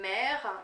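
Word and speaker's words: MEHR: façon aujourd'hui qui est le MER qui s'écrit M E H R qui est un rouge à lèvres qui réhausse vraiment le la couleur des lèvres et qui est mat.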